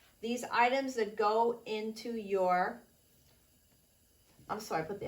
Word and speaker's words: yo: okay now sometimes often you will see and hear people saying things like yo in Spanish means I some people pronounce it differently in certain regions in certain areas they would say Jo but that's not what